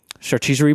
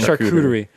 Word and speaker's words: charcuterie: exactly one of them has a uh uh chartessory board so I love the idea I'm sorry oh he said he said it right a chargesery yeah right cool yeah thank you thank you